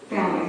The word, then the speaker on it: phalanx: Phalanx, the accent's on the first.